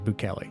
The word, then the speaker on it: Buchelli: Hard C. Okay, the hard sea is correct. Okay, Boulli.